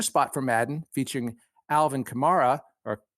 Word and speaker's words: Kamara: He made another spot for Madden featuring Alvin Kamara, or Kamara, depending on how you find it on the internet. LeBron saw that spot and tweeted 7 fire emojis on Kamara's Twitter feed.